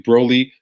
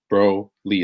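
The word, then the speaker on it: Broalie: questions about maybe i pronounced it incorrectly broly b-r-o-a-l-i-e so it's like bro lee it's like a goalie but with bro in front of it so broly talks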